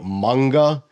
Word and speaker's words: manga: lot of people say manga however in Japanese it would be manga the long a sound I don't really care